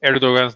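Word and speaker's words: Erdoğan: life u l l you don't pronounce the G you swallow the G you swallow o yeah because that that's when I when I I finally heard uh um how to pronounce erdogan's name the Turkish president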